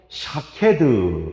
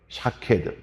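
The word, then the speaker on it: שָׁקֵד: 먼저 살구나무 환상은, 살구나무는 히브리어로 샤케드 이렇게 발음해요. 샤케드.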